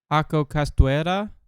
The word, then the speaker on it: Ako Castuera: So it was written by two separate people, Akko God damn it, I'm saying her name wrong. Ako Castuera.